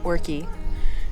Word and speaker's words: Orchy: We did ask, and it's pronounced Orchy, to Kingshouse today.